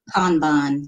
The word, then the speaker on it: kanban: what was it again was it kanban kanban like fun there you go oh